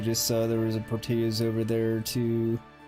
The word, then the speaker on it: Portillo's: You just saw there was a Portillo's over there, too. Or Portillo's, actually, that's how you pronounce it.